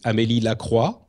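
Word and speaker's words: Amélie Lacroix: character in the lore her name is am laqua um I hope you enjoy the French pronunciation um I do and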